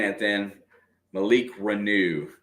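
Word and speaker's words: Reneau: gotta get used to saying that then Malik renew renew and there is something going on out high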